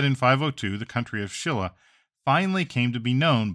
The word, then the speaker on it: Silla: for this new country the name actually translates to like shimra although Shilla is the more modern pronunciation there was definitely a